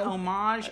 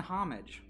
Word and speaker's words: homage: people listen to the email homage and homage it's a homage if you would yes same word i'll pronounce it slightly different when you use it slightly differently in a sentence yeah it's kind of